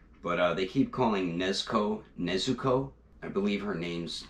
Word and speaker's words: Nezuko: this yeah they do funimation does switch up the way names are pronounced sometimes so they're calling nesco nizuko but yeah really glad